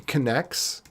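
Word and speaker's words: Knex: postgres or whatever so i'm using connects which some people call next but i call connects because then you know how to spell it connects kind of maybe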